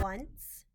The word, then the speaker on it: once: y animal once once the o in this word is making a w sound just like in the word one the c in this word is making an s sound because a c followed